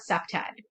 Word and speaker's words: CPTED: and that is um abbreviated as c-p-t-e-d we caught we pronounced that september okay um september has